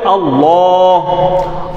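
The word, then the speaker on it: الله: আমি আবার বলছি, আল্লাহ শব্দের ডানে জবর বা পেশ হলে আল্লাহ মোটা করে পড়তে হবে।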